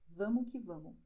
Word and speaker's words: vamo que vamo: I am pronouncing the way that we pronounce it when we talk informally.